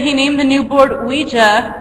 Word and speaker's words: Ouija: Kennard, whatever, stated that he named the new board Ouija, pronounced Ouija, after a session with Miss Peters, Elijah Bond's sister-in-law.